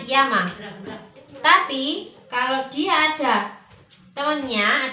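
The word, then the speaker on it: 山: Kanji gunung ini apabila dia berdiri sendiri seperti ini, kita bacanya yama. Jadi kalau kanji gunung ini dia ditulis sendirian, nggak ada temennya, kita bacanya yama.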